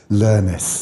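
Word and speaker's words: Lernis: Pronounce that for me. Learnis.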